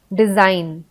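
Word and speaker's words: design: फिर जी साइलेंट होता है, जैसे बिनाइन, डिजाइन, मलाइन। तो आप सुनोगे तो आपको पता नहीं चलेगा कि जी भी होता है स्पेलिंग में। जब आप डिजाइन बोलते हो तो अगर आपको ये वर्ड का स्पेलिंग नहीं पता है तो आपको ऐसा लगेगा कि जी इसमें कहीं यूज हुआ ही नहीं है।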